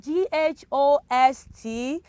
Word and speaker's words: ghost: this context we have g-h-o-s-t uh can you pronounce these children are you saying ghosts oh i'm so proud of you it is ghost of course let's see we can hear the sound right we can hear o s t we can we can easily pick those words right those letters right but the letter h can you hear letter h in that pronunciation no letter h is silent silent now for the